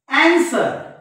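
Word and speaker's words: answer: विद्यार्थी मित्रहो या एस नंतर जर डब्ल्यू आला इंग्रजीच्या शब्दांमध्ये स्पेलिंग मध्ये तर हा डब्ल्यू शांत असतो बघा एस डब्ल्यू ओ आर डी आणि त्याच्यानंतर एन एस डब्ल्यू इ आर बघा अन्सर अन्सर अन्सर म्हणजे या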